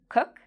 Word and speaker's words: cook: Do you think cook is a long vowel sound or a short vowel sound? Cook. It's a short vowel sound. And what are our lips doing with this word, cook? Are they in a round shape or are they spread? Cook. They're actually spread. This is very different from the word cool. Cool. In this case, my lips make a circle, cool, and it's a longer sound.